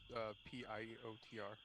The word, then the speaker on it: Piotr: And Peter is spelled P-I-O-T-R.